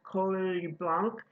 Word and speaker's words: Coll Blanc: It's called Coll Blanc. In Catalan, the double L is pronounced a little bit differently than in Castellano. You hear the L as well as the Y.